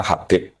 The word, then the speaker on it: Habib: Itu di harakatnya kitab itu ada yang nulis khubb. Tapi yang benar, oh nggih. Yang benar itu bacanya Habib.